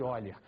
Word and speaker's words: Euler: a mediana de eiler escreve-se Euler mas pronuncia-se eiler era um matemático alemão